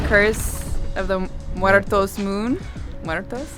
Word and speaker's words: Muertos: Muertos, you like that? I think Julian's gonna be proud of how I said it. So. You roll your R's. Roll my R's.